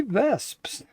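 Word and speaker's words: Wespe: uh you get three vesps uh the W is pronounced as a Victor so you say vesp um that's a 105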